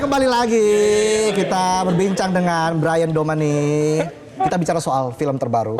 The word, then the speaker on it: Bryan Domani: Masih bersama dengan Brian Domani di sini. Benar bacanya ya? Brian Brian Domani. Betul. Brian Domani. Ya, Domani. Oke.